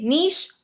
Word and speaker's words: niche: or niche which camp are you in nisha niche i feel like this is one of those are you a cat person are you a dog person questions tell me in the comments how you say it i personally say niche i also live in a french speaking province so you know all right um so i'm going to keep saying niche but sometimes i'm going